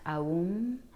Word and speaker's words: Om: at the vibrations of om um it's actually pronounced aom a u and that's the original sound